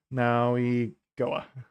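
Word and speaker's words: Mauigoa: I was saying his name wrong the whole time. Maui Goa. There we go. I could have sworn I heard them pronounce it with an N in there, but maybe not.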